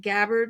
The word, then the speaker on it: Gabbard: And your work with Congressman was it Gabbard, right? Is am I pronouncing her name right?